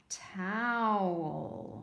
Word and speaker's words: towel: let's try this one both ways toh mmm that doesn't sound like a word let's try it without towel oh I used a